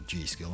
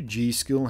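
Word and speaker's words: G.Skill: had initially selected the G do Ram or G skill I suppose it's generally pronounced specifically the rip Jaws it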